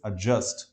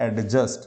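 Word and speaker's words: adjust: This is अजस्ट, नॉट एडजस्ट। ना तो ए sound है, अ साउंड है, और डी यहां से ड्रॉप हो जाती है।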